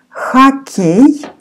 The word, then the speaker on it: хоккей: Or you pronounce here like A. Хоккей.